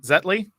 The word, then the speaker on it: Zetly: in in sports so I'm I'm looking at zetley and admittedly I did not have or actually is that the right way to pronounce it is it zetly yeah exactly exactly the name comes from uh